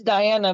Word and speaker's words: Dajana: look up uh diana it spelled like the genre though a lot of people call me the genre but it's diana but it's the croatian way of spelling it i thought because you